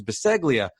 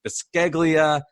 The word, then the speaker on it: Beseglia: were saying my name my last name's beseglia but everybody screws it up and calls it baskeglia i have to be